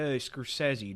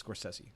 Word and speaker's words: Scorsese: Oh, we're watching that one by Scorsese, dude.